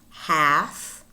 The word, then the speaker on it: half: And words in which the L is not pronounced. Calf, calf, chalk, chalk, should, half, half, talk, talk, folk, folk, palm, palm, wood, wood, salmon, salmon.